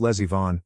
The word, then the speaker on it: Lesivon: Pronounced Lesivon, like my niece is the lesbian baroness of some German village.